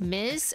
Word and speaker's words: Ms: married Miss equals unmarried Ms pronounced Miz either or unknown okay